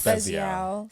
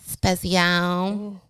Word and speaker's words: Spezial: Spezial. Spezial.